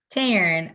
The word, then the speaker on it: Taryn: Taryn, just think Karen. It's Karen, but with the T. Taryn.